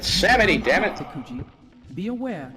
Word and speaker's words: Samedi: How the fuck do you pronounce Samedi like that? It's Samedi, damn it.